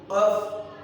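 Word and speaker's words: ق: একটু খেয়াল করবেন, কফটা যখন উচ্চারণ করব তখন গলার দিকটা ধাক্কা দিয়ে উচ্চারণ হবে, যেমন কফ কফ কফ কফ কফ কফ।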